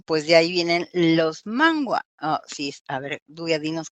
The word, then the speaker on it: manhwa: de ahí vienen los manhwa. Sí, a ver, Duya, dinos cómo se pronuncia de manera correcta en coreano. Manhua. Manhwa, ¿no?